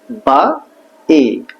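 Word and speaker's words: V: ঠিক আছে, এর পরে ভি, বা ই, ভি, বা ই, ভি, বা, বা, বা ই,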